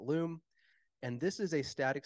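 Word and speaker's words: Lume: I actually don't know if that's how it's pronounced, but it's L-U-M-E, so I'm going to call it Loom.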